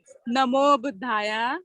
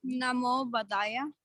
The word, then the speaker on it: Namo Buddhaya: How do you pronounce that? Come here. Say Namo Buddhaya. Namo Buddhaya.